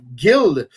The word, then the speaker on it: Gil: Il y a également le personnage qui s'appelle Gil, ou Gilles, dépendamment comment les gens vont le prononcer, mais Gil Piquette, qui est aussi celui qu'on appelle l'exterminateur là-dedans, qui est le boxeur, en fait.